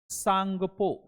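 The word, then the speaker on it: Tsangpo: तो इसका नाम है सांगपो। क्या बोलते हैं? सांगपो। सांगपो रिवर। ब्रह्मपुत्र रिवर को तिब्बत में सांगपो के नाम से जाना जाता है। इसमें टी जो है साइलेंट है।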